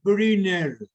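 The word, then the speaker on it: Brünner: un amplio conjunto de glándulas de briner fíjense que la pronunciación es esa para que ustedes el día de mañana cuando hagan una conferencia y la y sepan pronunciar esa palabra porque fíjense ustedes que la u tiene diéresis la u con diéresis es una palabra alemana ya que está en alemán Entonces no pueden decir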